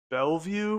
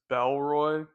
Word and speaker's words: Bellroy: And also, I've been saying Bellvue for my wallet. Totally got that wrong. It's a Bellroy. I'll try to have all this stuff cleared up in the description down below, but just so you know, again, I was pronouncing it Bellvue, it's Bellroy wallets, so.